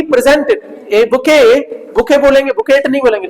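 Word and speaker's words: bouquet: दिया जाता है उसको क्या बोलते हैं सर बुके बोलते इसमें टी साइलेंट रहती है बुके की स्पेलिंग पूछते हैं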